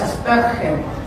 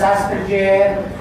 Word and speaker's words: Asperger: La pronunciación es Asperger, porque Hans Asperger era alemán, entonces la pronunciación no es Asperger, no es Aspi, no es nada, es Asperger.